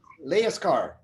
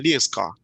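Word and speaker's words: Lejerskar: Dan, how do you pronounce the name? Leaskar. Dan Leaskar.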